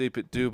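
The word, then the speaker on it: 8BitDo: So all right it's a bit do but it's like I'm gonna say missed opportunity man.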